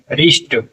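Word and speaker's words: wrist: कोई व नहीं है रि क्या हो जाएगा रिस्ट रिस्ट कलाई होता है य ड य पर नहीं पढ़ जाता लेकिन लिखने में स्पेलिंग पूछी जाए तो वहा पर हम डब्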